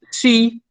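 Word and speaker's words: σύ: Ego ejo, entonces la segunda persona es sí, ejeis, ¿sí? Sí es para decir tú, vos. Eso se pronuncia entonces sí.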